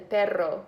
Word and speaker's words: perro: But or however, pero, which is different than perro with 2 R's.